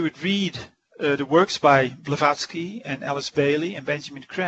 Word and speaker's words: Blavatsky: Blavatsky. Blavatsky.